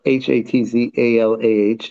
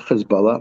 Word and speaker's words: Hatzalah: Our website Hatzalah, by the way, is pronounced Hatzalah, not Hezbollah.